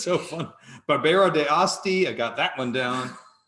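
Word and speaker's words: Barbera d'Asti: the wonderful Pico Macario trevori it's so fun Barbara de Asti I got that one down that's how you pronounce it it's a beautiful Northwestern Italian red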